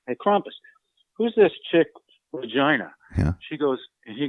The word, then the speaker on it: Regina: Her name is spelled R-E-G-I-N-A. You know, assume that it's vagina, like in Canada, like Regina.